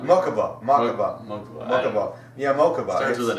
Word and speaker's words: Mokuba: And it turns out it's Mokaiba? Mokaiba? Mako? No, not Mokuba. Mokuba.